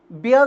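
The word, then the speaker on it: bier: वह होता है बी आई इ आर। इसका उच्चारण भी यही होता है बेटे।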